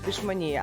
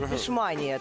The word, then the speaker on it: пішманія: Називається пішманія або пішманія, бо мене п підписники виправляли, що я кажу неправильно, хто живе в Турції. Пішманія. Обов'язково поставимо наголос.